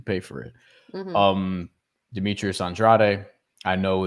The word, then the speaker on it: Andrade: Um Demetrius Andrade, I know it's they I know people say Andre, but my my Latino brain just says and andrade because that's how you're supposed to pronounce that But